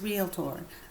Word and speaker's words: realtor: So the word once and for all is realtor.